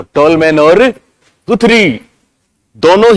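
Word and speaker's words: Guthrie: और केवल पुनर्बलन की बात आए तो गुथरी के दोस्त कौन? टोलमैन। कौन? टोलमैन। सिंपल। ओके, दूसरी बात लिखो। गुथरी के अनुसार, इनको गथरी भी बोलते हैं, वैसे गथरी इनका प्रोनाउंसिएशन होता है, पर गुथरी या गुथरी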